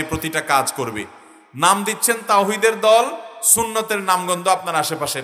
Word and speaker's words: তাওহীদ: হেজবুত তাওহীদ মানে তাওহীদের দল। কিন্তু আপনি যদি জিজ্ঞাসা করেন তাওহীদ শব্দটা শুদ্ধ উচ্চারণে একটু বলেন। আরবিতে তাওহীদ এ হা যথাস্থান থেকে উচ্চারণ সঠিকভাবে তাদের শতকরা কয়জন করতে পারবে?